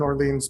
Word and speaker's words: Orlean: Susan Orlean, yeah.